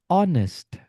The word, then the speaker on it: honest: Be honest. Be honest. To be honest ya. Honestly. Nah, H-nya enggak dibaca teman-teman.